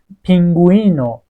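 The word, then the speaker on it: pingüino: میگول میگیم میگل اه پینگوینو ببین اینجا تلفظش کردم چون یوئ روش د تا چشم داره حواس حستون به این نکته هم باشه.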